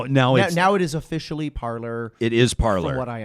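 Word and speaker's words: Parler: from what i understand it was launched to be parley because it's spelled p-a-r-l-e yeah the french version for speak to speak yeah and uh people just started pronouncing it parlor and it just kind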